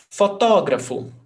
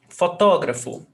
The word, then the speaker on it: fotógrafo: Fotógrafo. Fotógrafo. Proparoxítona. All proparoxytonas have the accent.